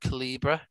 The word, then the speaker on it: Calibre: Caliber. Caliber Audio. It's a charity. Sometimes people pronounce it Calibra as well. Yeah. I'm not sure. I just go Caliber.